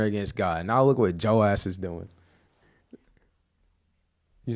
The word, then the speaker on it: Joash: Gotta make sure you pronounce the H.